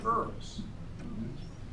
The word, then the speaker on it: herbs: If people get sick, they sometimes try herbs. They sometimes try herbs. By the way, herbs in the English language, they don't pronounce the H. It's a little tricky. It's just herb. Herb. It's a silent H.